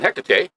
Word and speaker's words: Hecate: And her question is this: how do you know when Hecate, or am I pronouncing that correct?